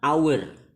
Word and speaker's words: hour: Berbeda dengan an hour, meskipun di situ hurufnya h, ya, hour, tapi bacanya adalah hour, ya. Sehingga bunyi awalnya adalah a, ya, huruf hidup, bunyi hidup.